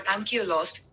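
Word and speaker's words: Anchialus: The standard pronunciation of Ankhialos or Ankhialos is Ankhialos.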